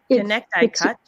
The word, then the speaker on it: Connecticut: It's because it's got that silent C. Connecticut. Yeah, Right. Connecticut.